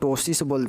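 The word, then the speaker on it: ptosis: तो उसे हम लोग टोसिन हैं क्या बोलते हैं पी साइलेंट है टोस इसको याद रखिएगा पीटोस पी लिख दीजिएगा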